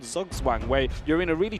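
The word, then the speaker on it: Zugzwang: It's called Zugwang where you're in a really tricky we're in a really tricky position.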